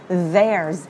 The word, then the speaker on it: there's: Đầu tiên là there's. Nó vẫn là âm z.